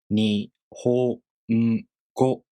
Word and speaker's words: 日本語: Then the word 日本語 takes 4 beats to pronounce. 日本語.